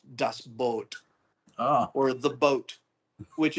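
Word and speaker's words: U-Boot: corrected me we we get used to saying D Boot and I just said it technically it's pronounced dust boat oh or the boat which is you know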